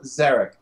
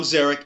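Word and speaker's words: Zarek: he played uh Tom zerk I think and I'm pretty sure I mispronounced the last name I no Tom Tom zeric is correct um let's see this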